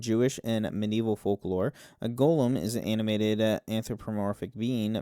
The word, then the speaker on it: golem: of prominent rabbis owning golems throughout the Middle Ages. In modern times, the word golem, sometimes pronounced Gollum in Yiddish, uh has come uh to mean who one is slow, clumsy, and generally dimwitted.